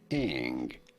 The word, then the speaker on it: Ng: In English, it is usually pronounced as Eng.